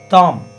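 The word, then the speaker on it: tham: There is a sound called tam, T-H-A-M, which is the combination of tum and num. Tum, num. For thom, you have to put both thum and num together. This is thom.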